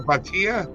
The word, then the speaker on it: Bhatia: Do you say it Batia? Yeah, Akshay Bhatia or Akshay Yeah.